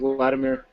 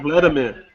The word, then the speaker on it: Vladimir: everyone says they like ladimir ladimir you boy Vladimir you have to get that pronunciation correct like it sounds like you're saying Vladimir I actually like him say